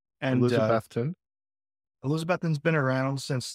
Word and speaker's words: Elizabethton: that as well okay so let's talk about elizabethon and I realize now I'm I'm pronouncing it differently which means I'm doing it